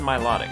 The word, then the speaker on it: Milotic: way as well is Milotic don't you mean Milotic no I said Milotic cuz I like that better I think that's how it should be pronounced Milotic what is my low